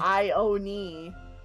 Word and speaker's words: Ione: I have an OC named Ione. Oh, Canary. Hey, learn something new every day. Yeah. How were you pronouncing it like I own, is it knee or like nay? I own knee.